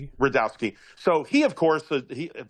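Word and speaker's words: Rudkowski: his view was Luke I always get his name wrongowski. How do you say his last name? Redowski. Redowski.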